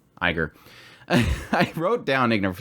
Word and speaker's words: Iger: call CEO Bob uh ignor said that was it ignorant somebody said that I said it wrong Iger I wrote down ignore